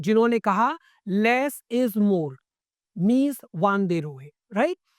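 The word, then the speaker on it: Mies van der Rohe: कहा less इज more मीज वान दे रोए राइट तो लेस इज मोर किस दे दिया है आपको मीज वान दे रो ने क्लियर इन का साइलेंट रहेगा तो मीज़ वन दे रो क्लियर अब इनकी एक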